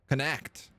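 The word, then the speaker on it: Connacht: Canash, ignore the CH and treat it like a K. Canashed. Canact.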